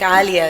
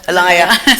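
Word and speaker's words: Alaïa: Well, I think Alia is a fantastic example of successful haute couture, and he's from the Middle East. No, not Alaya. Alaya. Sorry, I pronounced the name wrong.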